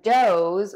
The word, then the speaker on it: does: Heteronyms are words that are spelled the same, but they have different meanings and different pronunciations. Our words today are does, which means performs, and doʊz, which is more than one female deer.